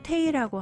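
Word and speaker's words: Tae: 발음은 미국식으로 테이라고 한대요.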